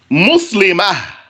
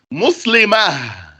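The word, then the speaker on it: مسلمة: Because when you stop on that letter, you pronounce it as a ha. You say, for example, here, Muslimah, pronouncing this ta as a ha. Muslimah.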